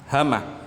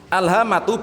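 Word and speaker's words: الهامة: Hama. Alhamatu bitakhfifil mim. Hama bacanya dengan takhfif mimnya, enggak ada tasdidnya.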